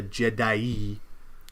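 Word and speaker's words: Je'daii: They came from the Jedai'i, which I'm not just butchering the thing. That's actually how it's pronounced.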